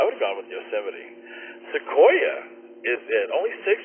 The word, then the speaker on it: Yosemite: Kent told me how to say this it's Yosemite Yosemite Park Yosemite coming in number one uh